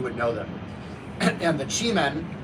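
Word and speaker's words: Qimen: Chime. uh chi like in chiong men like um it's a different chi but like you can spell it the same in English q i ne that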